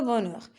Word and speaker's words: bonheur: Aussi, on peut trouver le H dans des lettres, dans des mots, je m'excuse, qu'on ne prononce pas, comme le mot un cahier, d'habitude, aujourd'hui et le bonheur.